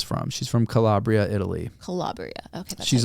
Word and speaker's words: Calabria: Calabria.